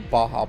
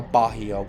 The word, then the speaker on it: Baja: I'm like, is there an O in the pronunciation of the name? Like, where do you get Bajio? My favorite one is Beja or Baja. People don't know. People putting the J in the middle of Baja.